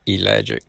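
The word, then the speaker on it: ellagic: It's spelled E L L A G I C. Elic acid.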